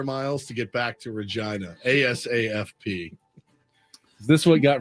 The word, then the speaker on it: Regina: skatan Canada is and I've confirmed that this is the pronunciation Regina re yeah GI and